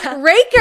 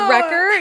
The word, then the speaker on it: Racker: Kate Raker, everybody, you said it right. Good job. I kept saying Recker. And she was like, Rkaker Raker. Raker, not Recorder.